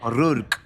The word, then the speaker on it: O'Rourke: El Tálamo, de Cipriana O'Rourke, espero estar pronunciando bien. O'Rourke. O'Rourke. Claro, es como Mickey Rourke, ¿Así?